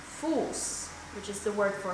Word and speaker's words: Fuß: So for example, the harsh S is pronounced like in the word Fuß, Fuß, which is the word for foot.